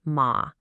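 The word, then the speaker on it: 马: But on the right side, we have the character for horse, pronounced ma.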